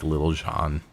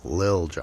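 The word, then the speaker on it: Lil Jon: I mean, maybe Little John here and there, but nothing else. You don't pronounce the T. It's Lil John.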